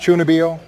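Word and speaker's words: 中二病: is known as the chuni bio Trope it's pronounced chunio yeah that honestly I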